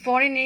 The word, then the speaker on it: foreign: এখানে দেখো ফরেন দেখো, এই ফরেনে জিএন আছে। কোনো ওয়ার্ডে যদি শেষে জিএন থাকে অথবা মাঝে জিএন থাকে তো জিটা উচ্চারণ হবে না, জি হচ্ছে সাইলেন্ট লেটার, ফরেন।